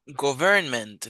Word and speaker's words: government: Government. No, es government. Acento en la primera sílaba.